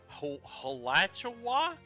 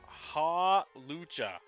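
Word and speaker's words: Hawlucha: a big freaking thing ha ha Lucha halucha yes that would make more sense like Lucha Libre yes a spoink a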